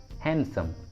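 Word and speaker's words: handsome: Silent D का second rule होता है, कुछ कॉमन वर्ड्स के साथ डी को प्रोनाउंस नहीं करते, डी साइलेंट होता है। For example handkerchief, handkerchief, handkerchief, हैंडसम, हैंडसम, हैंडसम, sandwich, sandwich, sandwich, Wednesday, Wednesday. देखिए इन सभी वर्ड्स में डी साइलेंट है, डी का उच्चारण नहीं किया गया है।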